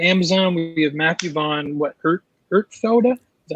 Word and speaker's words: Ertfelda: Ertfelda? Is that how you say his name? Yep. Ertfelda.